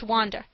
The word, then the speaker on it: Wanda: The artiste of the hall is Under, pronounced Wanda, a Polish girl.